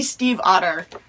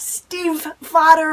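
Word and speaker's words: Stiefvater: his website just like maggie steve otter she says steve like the name i don't like the animal it's not steve fodder or anything weird and crazy it's pretty simple if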